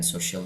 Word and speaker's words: social: Kita mulai dengan social media. Social media cara bacanya social. Jadi sh-nya agak tebal ya. Sh.